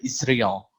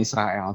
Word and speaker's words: Israel: Ya, negara yang bisa dibilang sangat tidak kita, negara Indonesia yang kurang sukai itu Israel. Bacanya bukan Israel tapi Israel.